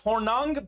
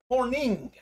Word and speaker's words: Hornung: paul horning nfc north it looks like it's hornung but it is pronounced horning paul morning congratulations jason